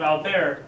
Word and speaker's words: Albert: his name is Alber Albert as it's pronounced in English but it's French so um pronounced Alber um and he's the